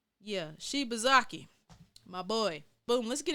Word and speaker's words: Shibazaki: Yeah, Shibazaki, my boy.